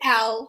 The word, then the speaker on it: Elle: It's Elle.